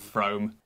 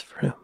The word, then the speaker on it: Frome: I think it's pronounced From. No, Froome. It's pronounced Froome, right? Frome. That's incorrect, lady. It's Froome.